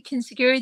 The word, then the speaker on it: Kintsugi: And then there's Kintsugi, I'm going to pronounce it correctly, Kintsugi, the Japanese thing, is in there, the gold in the cracks, and you know, when you're mending.